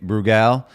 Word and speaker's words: Brugal: special guest today Nick bugal um probably butchered that and I'm supposed to roll my RS when I say your last name uh but I can't